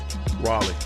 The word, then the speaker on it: Raleigh: Like the name L E I G H, which is the end of Raleigh, is Lee.